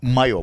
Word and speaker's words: Mayo: Okay, I'm gonna say his name, Mayo. That's the name he gave us, Mayo. Mike Mayo. No, Mayo, like mayonnaise, Uh.